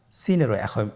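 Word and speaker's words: سين: সিনের মাখরাজ সিন কোন জায়গা থেকে উচ্চারিত হয় ছবিতে দেখতে পাচ্ছেন জিহ্বার আগা সামনের নিচের দুই দাঁতের পেট ও আগার সঙ্গে লাগিয়ে উচ্চারিত হয় জয়ের মতই জয়ের যে মাখরাজ সিনেরও একই মাখরাজ আপনারা সিন হরফটি আবার উচ্চারণ করুন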